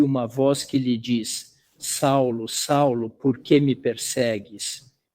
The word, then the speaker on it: Saulo: Apóstolos dizem assim entretanto Saulo pois esse é seu nome Saulo é seu nome judeu Saulo pronunciamos Saulo na verdade não dizemos Saul mas Saulo entretanto Saulo ainda respirando